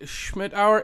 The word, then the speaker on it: Schmittauer: All right, everyone, today I'm super excited to have Amy Schmittauer. Is that correct? Am I pronouncing that correctly?